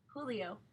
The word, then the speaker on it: Julio: your name and man Julio Julio he pronounced it the Spanish way with the J having an H sound you have a couple